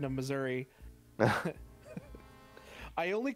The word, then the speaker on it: Missouri: I was really confused because I felt earthquakes in Missouri, but I was always told that Florida never had any.